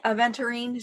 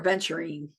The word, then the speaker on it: aventurine: would recommend the green aventurine so that is a v e n t u r i n e I think aventurine so or venturing some people pronounce it I have a